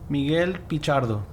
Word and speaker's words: Miguel Pichardo: Am I pronouncing this right? Miguel Pichardo? Miguel Pichardo.